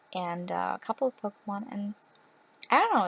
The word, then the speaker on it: Pokémon: also please note that I pronounce them Pokemon because that is how you pronounce them what is it with a pokey that's just no that's not how it goes okay yes I'm sorry